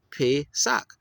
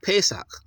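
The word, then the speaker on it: פֶּסַח: Anyway, so Pesach. So if you're doing it proper according to what you're looking at, it would be Pesach. But they say Pesach, even though it's a long A sound.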